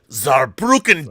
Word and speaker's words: Saarbrücken: And cheers to all of our audience members who have come to love you as our favorite German from Saarbrücken, Deutschland. Perfect pronunciation, Rob.